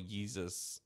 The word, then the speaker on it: Yeezus: I just think, but the balls it takes to have an album called Yeezus, like that, it rhymes with Jesus.